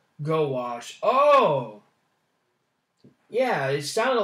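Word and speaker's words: gouache: them bad boys pronounce gowash oh yeah it sounded like i was pronounced as gosh so it's actually pronounced go wash gosh our english language is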